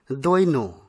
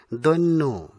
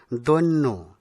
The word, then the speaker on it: দৈন্য: ভুল উচ্চারণ সঠিক হচ্ছে বনে এই শব্দটিকে অনেকেই দৈন এরকম উচ্চারণ করে থাকেন কিন্তু সঠিক সঠিক উচ্চারণ হবে দৈন্য ব্যাকরণসম্মত উচ্চারণ দৈন্য পরেরটি হবে দেশপ্রেম দেশপ্রেম নয় দেশপ্রেম এটি হবে